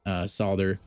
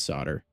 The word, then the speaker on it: solder: They pronounced it solder or solder or whatever, and then USA is solder. So I guess we're both right.